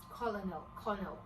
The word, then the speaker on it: colonel: LO is completely silent. Just the CO and the NEL are the only thing that made it to the pronunciation.